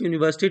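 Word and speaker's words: university: शी is dash dash यूनिवर्सिटी topper. यूनिवर्सिटी या से pronunciation हो रहा है, इसलिए यहाँ पे ए आ जाएगा।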